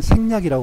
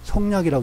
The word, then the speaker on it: 생략: 근데 왜 이 한자를 소개했냐면은 성자가 생으로도 읽혀. 생으로 읽힐 때는 생략하는 거. 생략할 때 같은 이 한자를 쓰는데 그때는 생략이라고 그러고 성략이라고 읽지 않아.